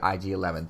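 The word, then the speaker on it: IG-11: IG 11 and yes I said it right I didn't say I jad a say IG 11 thank God kept saying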